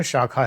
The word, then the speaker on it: शाखा: आपको योग, ध्यान, मेडिटेशन सब सिखाया जाता है। YSS, योगदा सत्संग शाखा। शाखा की स्पेलिंग उसमें ऐसे KH है, सखा समझ में आता है, वो सखा नहीं है, बंगाली में शाखा है, वो शाखा।